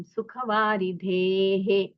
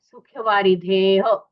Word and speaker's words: सुखवारिधेः: दर्शनंजिन चंद्रस्य सद्धर्मामृतवर्षणम जन्मदाह विनाशाय वर्धनम सुखवारिधेः। अभी ये जो विसर्ग है उसका उच्चारण कई लोगों ने नहीं किया है। सुखवारिधेः, कोई करता है सुखवारिधे, कोई करता है सुखवारिधेः, बिल्कुल नहीं, सुखवारिधेः।